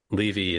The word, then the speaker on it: Levy: Now, you might hear that name, Levy, and think we must be related. Well, let me tell you, I pronounce it Levy.